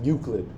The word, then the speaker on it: Euclid: Euclid is Greek, pronounced Euclid.